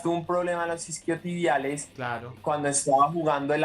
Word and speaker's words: isquiotibiales: Esa vaina se dice isquiotibiales. Esquillovial. Y los isquiotibiales. Ah, Esa- ok, los isquiotibiales. Los isquiotibiales, Isquiotibiales. Es que Alcaraz tuvo un problema en los isquiotibiales claro.